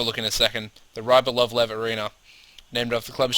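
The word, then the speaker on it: Rybolovlev: Let me pronounce this correctly. Rybal. Ryb. What? Rybalovlev. Rybalovlev.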